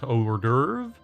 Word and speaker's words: hors d'oeuvre: On a quest for the perfect hors d'oeuvre? Hors d'oeuvre. That is how you say hors d'oeuvre.